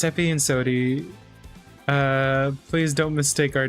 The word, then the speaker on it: Sodi: pronounced that way. What the heck? Effie. It's Effie and Sodi.